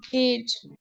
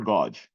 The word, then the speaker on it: gauge: The right pronunciation of this uh uh this is gauge. Yes sir. Okay. Yeah. To to Yes, that's correct. It's not godge. It's gauge.